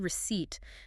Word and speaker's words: receipt: In the word receipt, the letter P is completely silent. You do not say the P. We say it like this. Receipt. Receipt. Receipt. The P is a ghost. It is there, but it makes no sound.